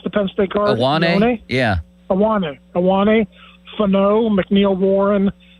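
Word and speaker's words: Ioane: How did you pronounce the Penn State guard? Iwane?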